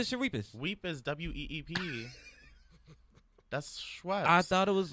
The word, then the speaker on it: Schweppes: You made it way more complicated. Get the S-H-S-C-H, sh, W-E-P-P, weep, E-S, is, Shawibas. Get the Shawibas. Weep is W-E-E-P. That's Schweppes.